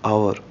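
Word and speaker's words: hour: अ लेके आ जाएंगे, लेकिन जिसका राइट प्रोनाउंसिएशन है एच साइलेंट है यहाँ पे, तो ये हो जाएगा आवर।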